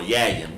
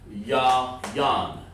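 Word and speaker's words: יין: Sound like a a whole animal, or yayin. What's a yayin? No, it's actually yan.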